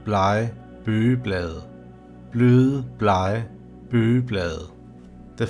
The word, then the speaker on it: blege: This sentence is pronounced bløde, blege, bøgeblade.